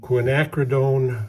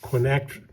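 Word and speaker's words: quinacridone: get yourself some cadmium orange, cadmium yellow, and quinacrredone rose. I pronounced it finally correctly. Quinac Well, I screwed it up there.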